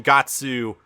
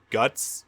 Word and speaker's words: Guts: this weird thing about saying got sue and not guts that's that's the wrong pronunciation I'm sorry it is straight-up guts not katsu so I mean this